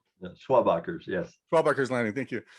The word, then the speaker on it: Schwabacher: There are is it Schwabach's Landing? Am I pronouncing that correctly? Schwabachers, yes.